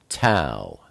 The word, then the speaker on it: Tau: And then we come to the final oat, Tau. Tau is the number 400, and it's pronounced like a T, like time.